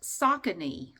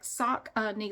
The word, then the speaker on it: Saucony: According to Google, this is pronounced Saucony, like sock-a-knee, like sock-a-knee, sock-a-knee.